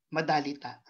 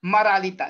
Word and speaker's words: maralita: Hindi tayo nasanay magsalitang madalita. Na madalita ang mga Pilipino. Pero alam natin, bibigkasin natin siyang maralita sapagkat iyon ang kinasanayan ng ating dila.